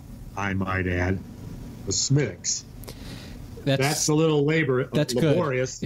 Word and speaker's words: Smithwick's: Stocking beer and I'm telling him how to pronounce Smith's well so what if you what if you just ordered it as Smithwick's everywhere and accepted the the fact that people